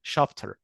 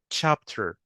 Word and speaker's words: chapter: chapter طبعا احنا كعرب احيانا بننطقها chapter، لا هي المفروض تبقى تش ساوند. chapter.